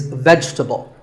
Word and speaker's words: vegetable: Another food word that's mispronounced a lot is vegetable. It's not vegetable. If you say it correctly, there are only 3 syllables. Vegetable. Vegetable.